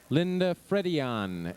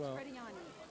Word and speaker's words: Frediani: Linda Fredian, F-R-E-D-I-A-N. Okay, we're missing an N. I. You're pronouncing them. That's Frediani.